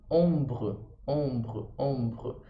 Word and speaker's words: ombre: porque o E não é pronunciado no final das palavras, mas ele dá força para o que vem antes. Então, no mesmo caso do fait, que eu falo o T, que geralmente não é pronunciado, como no caso do mort, por causa do E, eu vou falar o fait, o som do T.